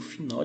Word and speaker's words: final: Em espanhol, esse L nunca terá som de U, sim? Terá som de L. Como é que eu pronuncio? Eu coloco a língua no céu da boca.